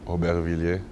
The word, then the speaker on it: Aubervilliers: A question I've been wanting to ask you all season, pronounce your hometown for us. Aubervilliers. Okay, there you go. That's how you pronounce it.